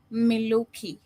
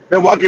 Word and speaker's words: Milwaukee: 50% in Chicago and Miloki Miloki Gangster if I'm pronouncing correct. Yeah. No, you got the right job. Milwaukee, Wisconsin.